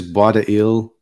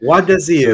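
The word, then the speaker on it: Bois des Îles: Bois de Ile. So, whenever you have an S before a vowel, you can pronounce the S when it's before right. A consonant.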